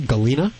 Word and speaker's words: Galina: about Galina is it am I pronouncing your name right Galina that's correct how are you doing